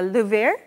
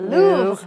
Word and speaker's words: Louvre: You can even pretend you're in Paris and check out the Louvre. The Louvre. Oh, that's the American pronunciation. I Googled it. If you're from France, you'd say Louvre.